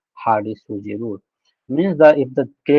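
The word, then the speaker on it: Hardy-Schulze: That is pronounced as Hardy-Sujci rule.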